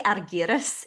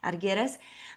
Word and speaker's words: Argyris: to say, so it's Argyris. I think it's the Y that gets because Uh-huh. it's really Argyris if we were going to pronounce it correctly. Yeah, Argyris.